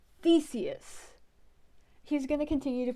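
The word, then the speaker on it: Theseus: I cannot take this that is not how you pronounce Theus it is Theus he's going to continue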